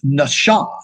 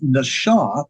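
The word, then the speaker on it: נָשָׁא: looking for here is Nasha n it's a sh sound it's not an S sound Nasha that's right there is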